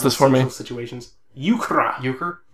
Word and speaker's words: euchre: Someone pronounce this for me. Situations. Euchre. Euchre? Right. Euchre.